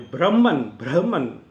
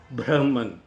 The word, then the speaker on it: Brahman: Even the primordial power, the Brahman, because we say Brahma, Brahma, as per the current Sanskrit pronunciation is Brahman. The ha should come.